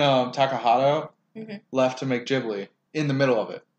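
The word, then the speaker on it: Ghibli: try and call it jibli because that's what they apparently are actually called even though I've called it gibli my whole life right I always do the hard G is M aaki the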